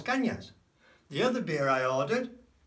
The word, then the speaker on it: caña: just a caña, una caña. It's got the tilde on, una caña.